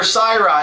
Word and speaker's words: Cyhra: hi we're sirra and yes that's how you pronounce our band name we're here at top